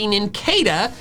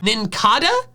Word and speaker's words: Nincada: It should be Ninkada because the cada comes from cicada. And then I'm making this video and I come to find out the official pronunciation is Ninkada, despite it being a cicada. It's not a cicada, it's a cicada.